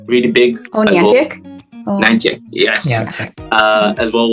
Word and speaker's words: Niantic: And you've got Natica, I'm pronouncing the name wrong, but the Pokemon guys, really big. Oh, Niantic? Well. Niantic, yes.